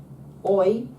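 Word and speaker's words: οι: And then finally, we're only interested in oi Oi. Oi. Oi. Oi.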